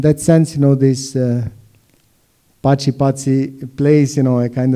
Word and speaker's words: Paci: So, and this idea of an Albanian artist called Paci in Albania, but being called Paci, pronounced Paci in Italy, and then meeting other